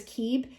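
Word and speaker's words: Kib: The pronunciation of this card is Keeb, and the qualities are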